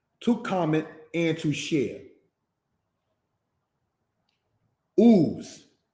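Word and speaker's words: Uz: Ooze, it is pronounced, brothers and sisters, as Oots. Because this letter here, the Zadeh Sofit, makes a like TZ sound, if we will.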